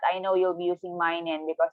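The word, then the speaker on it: 毎年: And then for every year, mainen. Again, mainen. You could also say maitoshi if you want, but I know you'll be using mainen because it's shorter and easier to remember, right?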